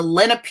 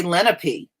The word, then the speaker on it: Lenape: aware of and well that's how they pronounce it here Carmen they say Lenape and they even say